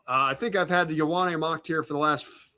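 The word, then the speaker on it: Ioane: I O ne pronounced Yawwan. The Ravens need a guard. He's the safest pick in the draft. What are they going to do? Let's find out. Yep. It is. Yana.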